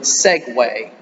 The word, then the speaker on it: segue: me about this word segway it's it's pronounced like it's s-e-g-w-a-y but it isn't spelled that way and a segue is